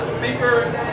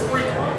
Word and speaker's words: Spreaker: It's not speaker, it's Spreaker. Right.